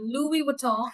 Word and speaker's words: Louis Vuitton: Louis Vuitton. That's the pronunciation of it.